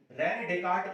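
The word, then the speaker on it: René Descartes: रेने डेकार्ट उनका नाम था, ऐसे यहां पे साइलेंट है, तो रेने डेकार्ट उनका नाम था।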